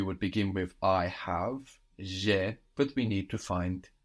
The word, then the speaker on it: j'ai: I have in French is j'ai. This is spelled J apostrophe A-I. So have there is A-I, but je and e contracts and we get j'ai. J apostrophe A-I, j'ai.